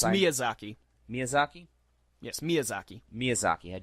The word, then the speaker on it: Miyazaki: anyway back to Princess Mononoke okay basically uh Maya Zaki had just talked about this in another show